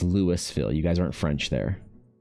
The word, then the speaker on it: Louisville: Louisville, that's Lewisville. You're not pronouncing the the S in it. Okay, it's it's Lewisville.